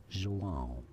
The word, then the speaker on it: João: João. João. It has a nasal sound at the end.